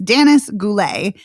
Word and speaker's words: Danis Goulet: Sorry, I'm mispronouncing her name. It's Danis Goulet, and it is an Indigenous film.